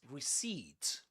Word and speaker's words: receipt: This is receipt receipt. Receipt. Receipt. You don't say receipt. Receipt. And this is not pronounced as a. This is e.